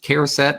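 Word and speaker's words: charset: do you pronounce that char set care set it's character character set okay so i'm going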